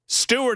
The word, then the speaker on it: Steuart: I mean, you spell and they're spelled differently is what I'm trying to say, but they're pronounced the same.